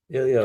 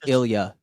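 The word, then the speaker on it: Ilja: Did you say Ilio? Ilio. I can't pronounce his name. All right. It's Ilia. It's Ilia.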